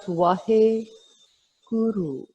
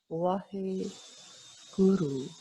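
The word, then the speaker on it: Waheguru: And then we have Wahe Guru. So there are 2 syllables. Wahe. It's actually 4 syllables. Wahe Guru. But we don't. We chant it as in 2 flows. Wahe Guru.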